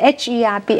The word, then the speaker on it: herb: The H-E-R-B, H 不要发音，herb 就好了哈。Okay, Charles, do you eat animal innards?